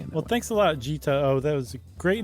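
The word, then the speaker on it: Jitao: they put a handy pronunciation next to it. That's why I'm saying it. Well, thanks a lot, Gita O.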